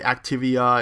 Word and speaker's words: Activia: it and now they're all the same the activia and that's how you pronounce it and all those yogurt commercials are